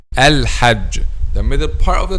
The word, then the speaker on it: الحج: Okay, so for example, saying al-hag, and this is a common mistakes among native Arabic speakers themselves. Some native Arabic speakers themselves says al-hag, and this is wrong, by the way. The correct pronunciation is j, al-hajj, the middle part of